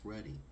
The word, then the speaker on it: ruddy: tone of our people, or even how to pronounce the word, because it's ruddy. Not Rudy, it's ruddy.